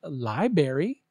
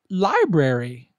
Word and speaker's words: library: 7 library library yeah don't say library say library example you can now check